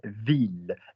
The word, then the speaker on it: ville: The word for girl is fille. You don't pronounce the L's. The word for city or town in France is ville, ville, and you pronounce the L's.